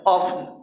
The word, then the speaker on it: often: में भी हलंत है, ऑफन। ऑफन मतलब होता है अक्सर या प्राय, यदा कदा। वो यहाँ पर टी साइलेंट है, याद रखिएगा, इसको भूलिएगा नहीं।